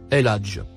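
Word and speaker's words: الحج: Le mot écrit en couleur rouge se prononce El Hadj.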